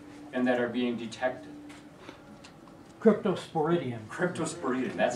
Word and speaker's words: Cryptosporidium: Cryptosporidium.